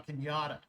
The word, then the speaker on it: Cañada: Now we have a little city out here called La Cañada, and so it's spelled Canada except for the Enya. And so we sometimes, back when I was going to Cal Poly, it's Cañada.